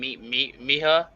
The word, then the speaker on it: Miha: How do you say your name? Miha? Yes.